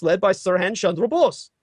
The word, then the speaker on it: Bose: Sir Han Chandra Bose his surname is spelled Bo se if you ever watch late-night television you see commercials for bose stereo equipment bose uh you know earphones bose stereos all that high-quality audio equipment that's his family that's